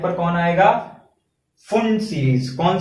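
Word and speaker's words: Pfund: बोलते हैं, क्योंकि इसको फुंड ने बताया था इसीलिए इसको फुंड सीरीज बोलते हैं। p आगे रहता है, साइलेंट रहता है, p फुंड सीरीज, ठीक है।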